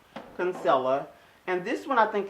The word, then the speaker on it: Kinsella: I always get her last name wrong. Kinsella.